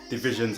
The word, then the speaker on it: DVSN: Division's album. I know Division, you might have seen DVSN, but it's Division.